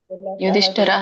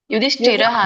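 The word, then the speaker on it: ಯುಧಿಷ್ಠಿರಃ: ಅನಂತಪುತ್ರ ಯುಧಿಷ್ಠರ ಯುಧಿಷ್ಠರ ಯುಧಿಷ್ಠಿರ ವಿಜಯಂರಾಜ ಕುಂತಿಪುತ್ರ ಯುಧಿಷ್ಠರ ಯುಧಿಷ್ಠಿರಹ ಅಂತ ಹೇಳಬೇಕು ಒಂದು ನಿಮಿಷ ಮ್ಯೂಟ್ ಮಾಡ್ತೇನೆ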